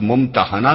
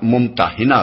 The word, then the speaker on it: ممتحنہ: اس کا تلفظ ممتحنہ بھی کیا جاتا ہے اور ممتحنہ بھی.